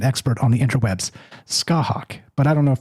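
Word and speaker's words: Scáthach: c a t h a c and the pronunciation is skah hawk. Okay, as far as I could tell that's according to a pronunciation expert on the interwebs, skahawk, but I don't know if that's accurate but anyway.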